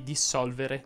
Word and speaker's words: dissolvere: Nei prefissi dis, che fanno assumere alla parola a cui si accompagnano significato contrario, la S andrebbe pronunciata sorda. Si direbbe infatti dissolvere, disfacimento, districare, discarico, discredito, disfare, disdire.